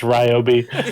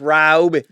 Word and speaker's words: Ryobi: He's got a Robi. I said it's Ryobi. He's got a Robi out there. Electric. It's pronounced Ryobi.